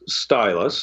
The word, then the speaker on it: Ztylus: So I'm going to recommend a company called Stylus, and that's spelled ZTYLUS.